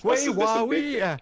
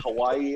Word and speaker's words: Huawei: Well, the biggest thing for me right now is that people can actually pronounce the company that I work for now. Huawei. Yeah, exactly. I've heard so many iterations. Huawei, Hawaii.